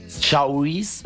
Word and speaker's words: Saoirse: Y la actriz principal, cuyo nombre quizás no sé pronunciar correctamente, que es Saoirse Ronan. Saoirse, se escribe Ronan.